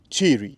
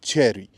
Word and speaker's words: Chery: the sound you're making it should resemble the way this brand's name is pronounced in Chinese. And in Chinese, this brand's name is very similar to the pronuncia- pronunciation of Chery, not cherry.